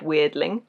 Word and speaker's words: Weirdling: are called strange things this one is literally the word weird with Ling on the end like that cling so it's just a